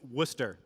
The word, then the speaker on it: Worcester: name of my city most americans cannot say the name of the city but it's worcester it's nothing like it's spelled so worcester massachusetts so we're kind